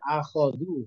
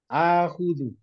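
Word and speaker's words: آخُذُ: Jadi Aulia kan bacanya akhodu, kok-nya di fathah, ya kan? Padahal ini fi'il mudhari ini. Kalau fi'il mudhari, kok-nya itu di doma. Akhudu, begitu.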